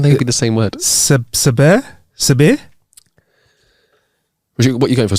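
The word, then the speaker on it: Sadhbh: like how can they be the same word sair sair what you going for sair sair sair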